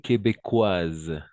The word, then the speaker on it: québécoise: 3 magnifique elle est québécoises d'accord québécoise c'est-à-dire une personne qui habite au Québec parce que le S entre deux voyelles on va prononcer comme un Z la SCI est très